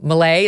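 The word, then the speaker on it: Milei: You got to go back there and do Malay, is that how you pronounce it, again?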